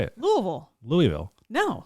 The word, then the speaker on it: Louisville: Louisville. Louisville. No. Lewisville. No. L. We've lived down here long enough. We know how to say it. Lewisville.